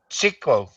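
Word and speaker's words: Tjikko: Can you tell me how to pronounce that? Uh, Chico.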